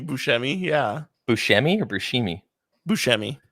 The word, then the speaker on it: Buscemi: Buscemi. It's one of those ones I've never known how to pronounce, kind of like Worcestershire.